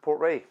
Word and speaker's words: Port Ruighe: of maybe mocha um yeah that's patalska portray so summary time okay um that's how it's pronounced uh port wine casks